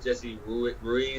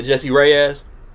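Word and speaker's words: Jessie Reyes: Nice Guy with Jesse Ruiz. Is that how you say it? Yeah, Jesse Reyes. Reyes, yeah, my bad.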